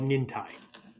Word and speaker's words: nintai: martial art it's called nintai okay nintai i guess you could you could pronounce it nin but it's not right nin time uh do i have